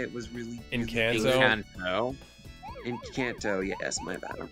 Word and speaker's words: Encanto: They can release a great film like Enchantico, I think that's how you say it, was really Encanto? Encanto.